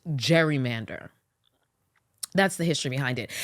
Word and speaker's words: gerrymander: salamander looking District okay so that's where we get the name Gary Mander from which eventually as time went on started becoming uh pronounced gerrymander that's the history behind